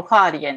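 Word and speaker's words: 花蓮: うん、中国語だとファーリエンって読むんですけ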